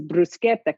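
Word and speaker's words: bruschetta: Hello to Joe Chinion who probably also pronounces brusqueta correctly as well which many people do not because you know the difference between a CI and a CH in proper Italian but the thing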